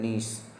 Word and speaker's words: gneiss: तो इसका आंसर है नीस। इसकी स्पेलिंग होती है GNEISS, जिसमें G साइलेंट होता है।